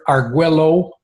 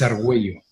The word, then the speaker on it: Argüello: ellos te quedan bien dice ok mister agua low y pronuncian al vuelo como que si estuvieran porque fueron brasileros pero pero no es argüello que decirles tengo que